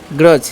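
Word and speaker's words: grudge: हम क्या पढ़ते हैं ग्रज इसे हम क्या पढ़ते हैं ग्रज ठीक है डी साइलेंट है यहां पर और यहां पर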